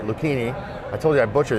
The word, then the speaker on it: Lucchini: Bill Lucchini, he is and I said it right, Lucchini. I told you I butcher these.